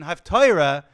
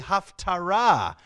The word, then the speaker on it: Haftarah: The old Yiddish pronunciation, Haftorah, made people think that it was half the Torah, but it's really Haftarah, which comes from a different Hebrew word completely, which means conclusion.